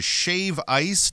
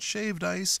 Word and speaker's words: shave ice: From volcanic trails to shave ice, not shaved ice, to shave ice and whales, it promises memories that will last a lifetime.